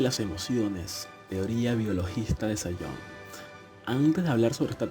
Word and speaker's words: Zajonc: Teoría de las emociones, teoría biologista de Sayon. Antes de hablar sobre esta teoría, conozcamos un poco a su autor. El autor Robert Sayon, que se pronuncia Sayons, fue un polaco-americano, psicólogo